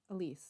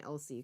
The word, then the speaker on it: Elise: first 2 live streams, I was saying Elsie because I read it wrong, because my brain does weird stuff sometimes.